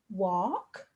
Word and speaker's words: walk: say it together all the tricky part of the word is that the apple makes this the sound oh now it does this in many other words like walk talk always they are all spelt with an al which is making the o sound so there are quite a few words that use this spelling i would like you